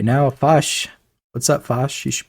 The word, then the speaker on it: Foch: I think is it pronounced Foch? Mm-hmm. Yeah, which is okay.